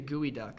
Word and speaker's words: geoduck: they are the geo arms are essentially the gooey duck see gooey duck something like it's spelled to candy it's bilge EOG ducts so